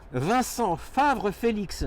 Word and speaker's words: Vincent Favre-Félix: Alors, attendez, je vais essayer de bien le prononcer votre nom. Hein. Vincent Favre-Félix, j'ai bien dit?